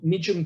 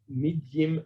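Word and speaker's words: midyim: attract um the blue tongue lizards as will medium berries m-i-d-y-i-m medium is how it's spelt medium berries they taste also beautiful it's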